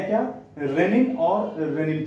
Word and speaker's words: renin: हम बोलते हैं तो ये होमोफोंस की तरह है से साउंड करता है एक ही तरह का साउंड प्रोड्यूस करता है रेनी है जो लेकिन जो डिफरेंस